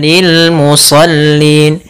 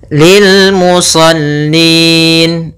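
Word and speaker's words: للمصلين: lam saja Kemudian musallin pada lafal musallin ada bacaan Mad di suukun itu adanya huruf nun yang kita wakafkan menjadi sukun sebelumnya ada huruf mad berupa ya maka ini kita namakan dengan bacaan Mad Arid diukun panjangnya berapa untuk di sini boleh dua boleh empat boleh en harakat boleh kita baca Lil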